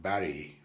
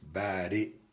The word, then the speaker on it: Badi: allah yeah buddy uh don't mix it up of course with barry right barry but yeah buddy a different word altogether maybe an english word b-a-r-r-y barry but this is badi as it's spelt in arabic so we can call